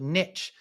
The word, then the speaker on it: niche: it just does but Niche Niche is to to completely ignore the existence of that e at the end seems yeah that's that